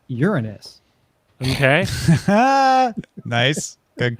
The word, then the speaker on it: Uranus: And it's pronounced Uranus, not Uranus.